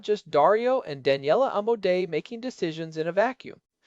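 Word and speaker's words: Amodei: Yeah, everyone knows the Emodas pronounced Amu Dee.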